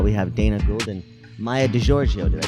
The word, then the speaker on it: Maija DiGiorgio: We have Dana Gould and Maija DiGiorgio. Did I pronounce that correctly?